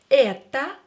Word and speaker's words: это: Or, when it's not stressed, pronounce it as a.